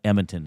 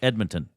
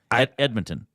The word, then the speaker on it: Edmonton: I I've noticed sometimes when people say Edmonton they leave the D out I don't know if they're just saying it too fast but it sounds like Edmonton no it's not emont it's Edmonton you don't have to